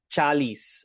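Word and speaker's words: ચાલીશ: Even though it's often pronounced is, it is spelled ish.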